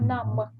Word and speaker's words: numb: You already had today some, палець, великий палець, and now you have numb without B. We don't pronounce it.